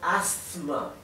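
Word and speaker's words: asthma: escuché a nadie pronunciarlo asma con la s y la zeta así que por más que se escribe con s yo creo por lo que siempre he escuchado que la s no se pronuncia y no porque hay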